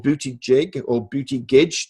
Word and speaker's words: Buttigieg: Or will they go for this young, smart fellow called Buttigieg, or Buttigieg, depending how one pronounces his name, who is very eloquent, in